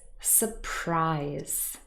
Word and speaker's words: surprise: all we're going to see where the stress is surprise surprise so in this noun the stress is on the last syllable the second there are no prefixes